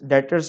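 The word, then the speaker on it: debtors: Trade receivables, trade receivable जिसका पुराना नाम था डेटर्स, डेटर्स में बी साइलेंट है।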